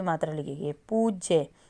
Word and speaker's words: पूज्य: की मात्रा लिखी गई पूज्य जब हम पूज्य माता जी लिखते हैं ना पूज्य तो पूज्य में आपको बड़े ऊ की साउंड है तो बड़ा उ लगाएंगे सूर्य अब सूर्य जब